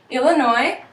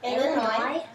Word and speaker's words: Illinois: have Minnesota Minnesota Wisconsin Illinois Illinois there's actually a silent s on the end some people pronounce it but some people say Illinois um Indiana Indiana Michigan